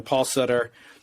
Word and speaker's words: Sutter: one way or another Paul Sutter rhymes with butter I'll never make that